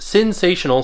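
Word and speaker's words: Cinesational: So it's called Sensational, spelled like C-I-N-E, like cinema.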